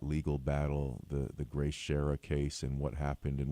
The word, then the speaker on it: Schara: Um the the case of Grace Shara. Am I pronouncing that name correctly? It's actually Grace Sher. Sherah.